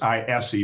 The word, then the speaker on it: Ise: us, a guy by the name of Damon Ise, and he is a certified flight instructor. Is it spelled DAMONDISSA? It's Damon, DAMON, and it's ISE, but he pronounces Ise.